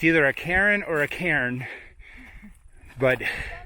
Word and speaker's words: Karen: And the person is Karen, as in two syllables.